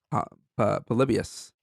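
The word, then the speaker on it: Polybius: like an arcade game it's an arcade game called pus I think that's pronunciation pus p o l y b i u s oh my nightmare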